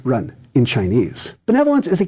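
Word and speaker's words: 仁: That word is benevolence, pronounced run in Chinese.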